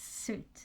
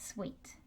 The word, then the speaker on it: suit: to say it now the pronunciation of this word is souped not sweet suit okay so it's suit not sweet sweet is what I